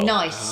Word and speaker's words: gneiss: It's gneiss, but it's pronounced nice.